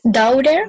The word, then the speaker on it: daughter: Es como una OA. Daughter. Daughter. La T no se pronuncia, olvídense de la T, es muda.